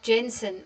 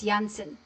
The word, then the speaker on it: Jansen: Uh why do you pronounce his name as Jansen? It is Jansen. Ya Jansen. It's not uh Jensen or Jansen. I know that some of you guys say that. It's Jansen.